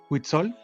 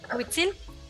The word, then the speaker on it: Huitzil: Y la siguiente pregunta es alrededor de Huitzol. Sí lo pronuncié bien, ¿verdad? Huitzil. Huitzil, perdón.